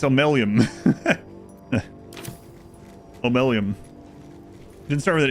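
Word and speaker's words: Omeluum: It's pronounced a little bit differently than it's spelled, but it starts with an M. It starts with an O. It's Omelium.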